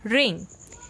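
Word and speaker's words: wring: हम कह सकते हैं और हमारा नेक्स्ट और लास्ट वर्ड है रे यहां पर आ जाता है और इसमें जो डब्लू होता है वह साइलेंट होता है उसको प्रोडक्ट्स नहीं किया जाता और रिंग का मतलब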